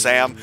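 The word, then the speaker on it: S_1re: one re it's pronounced sam all right cool hello sam the underscore is silent how you doing sam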